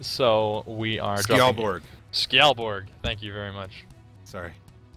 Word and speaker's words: Skjaldborg: Skjaldborg.